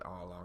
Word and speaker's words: Arlong: Is that how you pronounce it? I can't remember. It's Arlong, yeah.